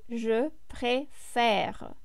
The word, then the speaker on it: préfère: And of course, it's also very important to pay attention to the pronunciation, because the E accent aigu is the E sound, préférer. But the E accent grave is E. Je préfère.